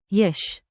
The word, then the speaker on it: יש: Let's get the sound locked in, short, friendly, curious. Repeat after me. yesh. Like, yesh, one beat.